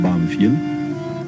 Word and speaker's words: Banfield: Nosotros lo pronunciábamos Banfield y es un pueblecito